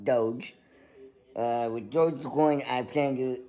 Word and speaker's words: Doge: But, like I said, with Dogecoin, it's actually, it sounds like dog coin, but it's pronounced Doge.